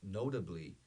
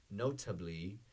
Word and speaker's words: notably: Higher, mais alto, but notably. Again, my American accent, I do not pronounce the T. I don't say notably. Notably.